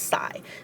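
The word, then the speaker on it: psi: letter looks like and it's pronounced sigh the same way you would sigh because this video is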